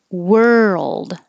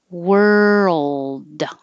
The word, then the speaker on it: world: this is the er world this is remember wer curl your tongue back and as you're moving from r to l keep making voicing world but you don't have to release the d world hold the tongue in the l position for a little longer so that we can